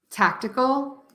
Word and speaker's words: tactical: democracy democracy photography photography Tactical Tactical I think it gets confusing because like tactical it's only three syllables right so you're still going to stress syllable number one and that um gets